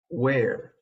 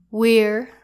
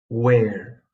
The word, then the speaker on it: where: I usually hear this one being pronounced as where. Please pay attention to this one. It's actually pronounced where. Where. Like the question. Where is not even a word. Doesn't the word where rhyme with bear?